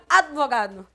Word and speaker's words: advogado: Ah, mas eu falo AD. Problema é teu. Tá? Não é porque tu coloca uma vogal ali que ela vai entrar na contagem dos teus fonemas. Tá pronunciando de forma errada. Do mesmo jeito que pronuncia psi. Ai, porque eu vou levar minha filha imperativa no psicólogo. Mas com a filha imperativa, né? Ah, é que assim, ó. O correto é advogado.